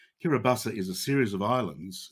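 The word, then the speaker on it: Kiribati: kirabasa and kiribus and they say kirobasa is how they pronounce it so I'll try to use their pronunciation kiribata is a series of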